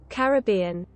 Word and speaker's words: Caribbean: a funny one too americans sometimes say it differently to the uk caribbean every bean it's british pronunciation caribbean oh caribbean caribbean it would be it's like they're cutting something off in american english caribbean european caribbean